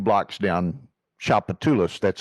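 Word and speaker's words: Tchoupitoulas: I mean, Emerald's, which is I mean, the original Emeralds is like 2 blocks down Chapatulas. That's how that word is pronounced. People look at the address, Chapatulas.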